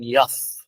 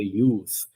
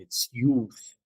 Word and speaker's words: youth: And then I heard someone saying yath. Is that correct pronunciation? Yath. Rehab Maruni. Youth. Yes, exactly. Youth. So there is no yath. It's not yath at all. That's wrong pronunciation. It's youth.